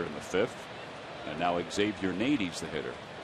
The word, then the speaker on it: Xavier: So Ankiel is the first out here in the 5th, and now Xavier Nady's the hitter. It's Xavier, Sarge, but it's Xavier University. The X is pronounced in Xavier's name.